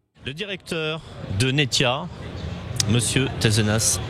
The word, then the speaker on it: Tezenas: directeur de netia monsieur terrenas on prononce pas de s je pense raisonnable de